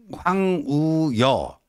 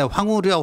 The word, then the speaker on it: 황우여: 관심을 기울일까 그 황 황우여 저 보통 이제 이게 발음할 때 황우려 황우려 이게 발음하기도 편하니까 그 저희 때도 항상 황우려 황우려 뭐 그 의원 황우려 대표 뭐 원내대표 그렇게 얘기했는데 맨날 우려만 하고 있으면